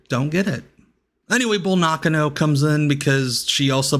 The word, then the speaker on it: Nakano: I know Americans normally pronounce it Nakano, but I believe that's the actual pronunciation.